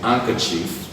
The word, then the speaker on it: handkerchief: Ankoff is silent in handkerchief. Is silent in handkerchief. D is silent there.